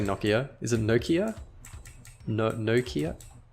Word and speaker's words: Nokia: If I had this on my phone in 2007, on my Nokia, or Nokia, how do Americans say Nokia?